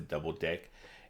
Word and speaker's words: deque: a double ended queue so we just pronounced a double deck and the way you